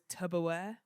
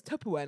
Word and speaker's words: Tupperware: his 30s or 40s he thought it was tubberware not Tupperware and I was like to be fair that makes more sense I actually love things like that he was like he was on he had a podcast and he was like bro did you know it's Tupperware not tubberware and the guy's just